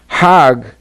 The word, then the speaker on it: Hajj: around the circles now Hajj is a pilgrim to Mecca Haag is the Egyptian pronunciation hag in Hebrew means